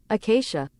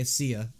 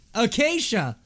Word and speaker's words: Acacia: Acacia. Acacia! Why'd I say Acia? Acacia!